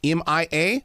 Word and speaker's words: Mia: it off with one thing my granddaughter uh pronounces her name Mia M.I.A but I've also worked with people her name